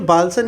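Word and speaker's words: bolson: बालसन क्या चीज होती है? बोलसन। ठीक? इंग्लिश में इसको यही बोलसन। सन गलत लिख गया। बोलसन। ठीक है? इंग्लिश में भी स्पेलिंग यही है। बी ओ एल एस ओ एन।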